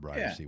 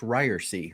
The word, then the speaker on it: Ryersey: context for the Ryersey world and life. Yeah, I'm Ryersey. It's pronounced Ryersey with a long E on the end. Nobody ever gets that.